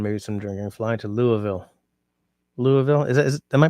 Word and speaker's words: Louisville: what was I saying Louisville it's just louville destiny what the hell